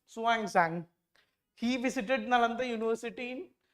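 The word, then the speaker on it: Xuanzang: parts of the country what this is pronounced suang Zang he visited Nanda University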